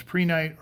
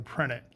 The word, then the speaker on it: prehnite: Well, it's prehnite or prehnite. I've heard it pronounced both ways.